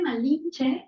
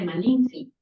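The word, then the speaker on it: Malintzin: Sí, y aparte Malinche es una mala pronunciación de los españoles de Malinci.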